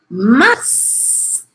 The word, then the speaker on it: mars: Depois temos mars. Exceção da exceção, vou falar esse S aí.